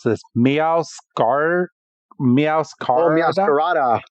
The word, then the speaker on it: Meowscarada: I could never even pronounce this. Meowscarada. Oh, Meowscarada. Meowscarada.